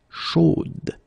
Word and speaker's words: chaude: You will have to put this final e, chaude, okay, at the end, and then the pronunciation will change a little bit, chaude. So here you pronounce the final d, whereas in the masculine form you don't pronounce it.